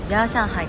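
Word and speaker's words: 夜上海: It's pronounced “Ya Shanghai.”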